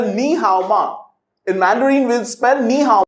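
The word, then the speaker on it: 你好吗: mandarin we spell nihama in mandarin we spell nihaoma in mandarin we'll spend neha in english let's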